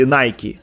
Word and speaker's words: Nike: г-ну а брендах одежды вот nike правильно кстати nike nike правильно говорить вот они тоже запустили